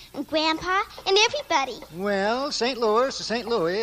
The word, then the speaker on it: St. Louis: Excuse me, Mr. Costello, but it's pronounced St. Louis.